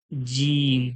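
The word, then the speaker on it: جيم: বাংলার বরকার্য যে বলবো কোনখান থেকে উচ্চারণ হচ্ছে জীবের মাঝখান এবং ওর সোজাসুজির তালু থেকে মানে আওয়াজটা বার হবে জীবের মাঝখান এবং ওর সোজাসোজি তালু থেকে বার হবে উচ্চারণ করুন মনে মনে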